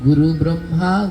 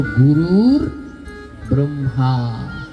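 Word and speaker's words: গুরুর্ব্রহ্মা: আমরা সচারাচার কি বলি? আমরা বলি গুরু ব্রহ্মা গুরু বিষ্ণু। কিন্তু না গুরু ব্রহ্মা গুরু বিষ্ণু না এর উচ্চারণ হল গুরুর ব্রহ্মা।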